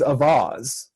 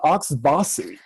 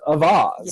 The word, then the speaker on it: Auxvasse: sphere of mid-Missouri, is Avaz. It's spelled Auxvasse, and I've heard people call it Oxbossy, but it's actually is one of the few places that's pronounced correctly in French as Avaz.